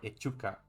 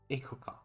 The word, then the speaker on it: Echuca: Because I will pronounce it Ekuha or Echuca or Ekuka, Ikuka. But I feel that it must sound like Ikuka.